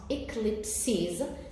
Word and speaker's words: eclipses: Now, if I remove the final S, so the E here will not be pronounced. Okay? So you would say eclipse. And then you would have 2 syllables instead of 3. But because there is a final S, we pronounce eclipses. There is an additional vowel at the end, so you count 3 syllables.